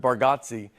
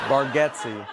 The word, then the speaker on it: Bargatze: I told you, I think you say our last name correct with Bargatze, and I think we say it wrong as a family. Bargatze.